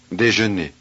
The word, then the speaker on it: déjeuner: Déjeuner. Déjeuner. 44. This word has 3 syllables. Listen to the syllable division.